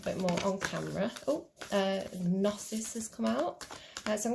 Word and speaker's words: Gnosis: But before we get to, what is this, Gnosis? Gnosis? I don't think we pronounced the G on that one.